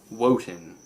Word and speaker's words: Wotan: It's Wednesday, which comes from Wotan. I don't know where that comes from. It's really old. It's spelled like, what is it, W-O-T-A-N, Wotan's Day.